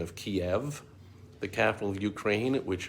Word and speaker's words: Kiev: And so while I have never been to either one of those countries, I'm well aware of the old spelling and pronunciation of Kiev, the capital of Ukraine, which, if you don't know, was the Russian spelling.